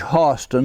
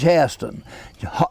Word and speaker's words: Hairston: off right it is judge hostin not judge haston the ai is a scottish diphthong the yankee school teachers came down and taught the blacks how to mispronounce their own name so they pronounced it in english and the blacks say heston and the whites say austin and that's how it is i see it it